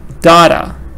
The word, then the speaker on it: data: So, data. Data. Two syllables, stress on the first part.